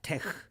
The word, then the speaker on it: TeX: this one million times T is Greek letter toe e is Greek letter Epson and X is Greek letter G yes and more says interesting uh properly pronounce it yeah tech tech I'm sure Tech